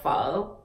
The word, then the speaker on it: phở: balls follow ball VIN it is the meatball foe now the next one that I want to